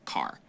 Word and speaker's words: char: short for character and sometimes you might hear people pronounce it as car oh so you can